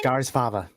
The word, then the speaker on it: Skarsfava: Scars and then fava, like a fava bean? Skarsfava.